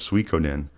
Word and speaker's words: Suikoden: big dummy out here, but I want to pronounce this game correctly, and this game is Suikoden.